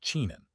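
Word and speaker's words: 沉香: In Chinese, what I'm translating as Agarwood is pronounced chenxiang and is a subspecies of a type of a fragrant tree that in English is called Agarwood.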